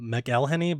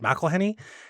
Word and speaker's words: McElhenney: McElhenney or I thought his name was Rob McElhenney but he pronounced it McElhenney he is the creator of It's Always Sunny